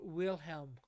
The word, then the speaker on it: Wilhelm: pastor ah okay uh his name is pronounced Kaiser Wilhelm Wilhelm yes William second uh Kaiser Wilhelm uh